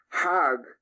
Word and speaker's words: Hajj: Now, Hajj is a pilgrim to Mecca. Hag is the Egyptian pronunciation.